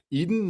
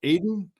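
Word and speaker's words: Edin: Eden. No, Aiden. Aiden. I think it's Aiden, but yeah.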